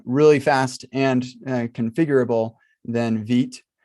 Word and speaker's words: Vite: fast and configurable than veet which is such the wrong way to say this word but that's what i'm told how you're supposed to pronounce it is veet this is vite v-i-t-e that's byte um sorry um maybe maybe in another language that would be veet and maybe that's what